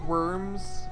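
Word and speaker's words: wyrm: don't get it no do you know what a worm is you mean like the tiny dragon thing yeah an earthworm oh i didn't see it spelled like that yeah it's spelled w-y-r-m slow down i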